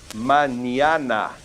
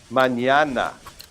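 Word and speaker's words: mañana: When we say the word tomorrow and we put the tild over the end, this n will remain just like an English n and this one becomes a nya sound. So try to say this manana manana.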